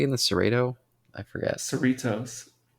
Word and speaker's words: Cerritos: Cerritos. Cerritos. Yeah, it rhymes with Doritos.